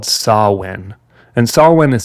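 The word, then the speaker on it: Samhain: ancient Celtic Festival called sawwin and sawwind is spelled like Sam Hayne s-a-m-h-a-i-n but it's pronounced saw when sawin was a festival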